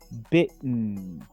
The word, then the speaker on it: bitten: Y en participio, bitten. Bitten. Fíjense que aquí tampoco se pronuncia la E. Se pronuncia casi como una TN junta.